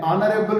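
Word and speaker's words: honorable: एच तो wall नहीं है, मगर साउंड जहां पे वॉल दे, एन ऑनरेबल मैन।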